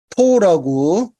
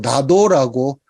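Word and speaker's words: など: 조사조동사가 전부 가타카나로 되어 있고 그 다음에 여기 첫 번째 줄의 끄트머리를 보시면은 나토라고 적혀져 있습니다만은 이때 당시에 나토라고 적혀져 있다 하더라도 나도라고 읽거든요.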